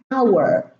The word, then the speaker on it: hour: We have a silent H in column 2 at the beginning of the word, like air. It's not air. Hour, herb.